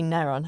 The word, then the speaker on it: Kneron: to next in Taiwan naron with a K naron with a K naron well it's got to be naron hasn't it um naron have been